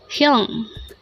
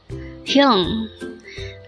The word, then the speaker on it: 형: Hyung. Hyung. This is composed of just one syllable. Pronounce it with me. Hyung. Hyung.